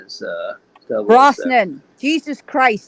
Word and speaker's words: Brosnan: Hey, what did you think about Pierce Bronson as 007? Brosnan. Jesus Christ.